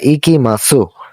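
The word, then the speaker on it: いきます: তো এটার উচ্চারণ হওয়ার কথা ইকিমাসু। কিন্তু যখন আমরা এটি জাপানিজে উচ্চারণ করব বা বলব তখন আমরা সেটাকে বলব ইকিমাস। লেখার সময় যদিও এটা ইকিমাসু হয়। কিন্তু যখন আমরা উচ্চারণ করে বলব তখন এটা ইকিমাসু না হয়ে এটার উচ্চারণটা হবে একিমাস।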